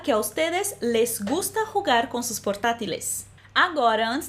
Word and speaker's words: jugar: Atenção à pronúncia dessa palavra em espanhol. Jugar, jugar.